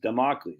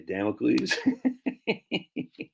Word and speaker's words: Damocles: a manipulated Man by Esther Villar so you spell it wrong freaking Carl jeez man remedial spelling e-s-t-h-e-r-v-i-l-a-r Carl spell the e-s-t-e-r-v-i-l-l-l-a-r democles Damocles there you go all right cool what'd I say Damocles that's dude that's why I come here man